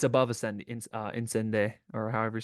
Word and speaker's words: Incendies: Arrival's A tier for me, but it's above Incende, or however you say it, Incendies. I think it's pronounced on Sunday, but I always say Incendies because On any given Sunday.